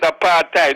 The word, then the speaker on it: apartheid: you some apartheid and that's the correct pronounces pronunciation that apartheid is apartheid that is a dutch word beloved can you think